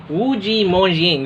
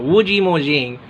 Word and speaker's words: Wu Ji Mo Xing: Getting you mispronounce it. Wujimoxing. There you go. Wujimoxing.